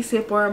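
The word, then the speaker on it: Sepora: It's spelled S-E-P-O-R-A. But in the Samoan language, a majority of the time, our P is pronounced as a B, as to why I call myself Bora, Bora Meets World, you know?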